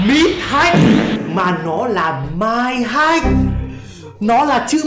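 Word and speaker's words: Mind: I N D Hách, M I N D nó đọc là Mai. Mai Hách, Hách nhão ý. Chứ không phải là Mít, không phải là đường giữa, không phải là Gia Sua.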